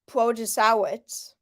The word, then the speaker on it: Protasiewicz: Janet Protasiewicz, and yes, that is how you say it.